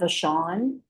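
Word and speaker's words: Vachon: My name is Vashawn. My last name is spelled V A C H O N.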